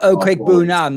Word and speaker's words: Okwuegbunam: Albert Okwuegbunam. That's how you pronounce his name.